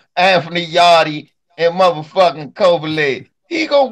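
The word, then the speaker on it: Yarde: What's gonna happen with Anthony Yardy? My bad. You know I'm from America, so I'm gonna pronounce it wrong. Anthony Yardy and motherfucking Kovalev. He gonna whoop Kovalev ass. Nigga, the E's silent, dog.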